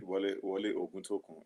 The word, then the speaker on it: Wole Oguntokun: Is it correctly pronounced? Yeah, that's it. Wole Oguntokun.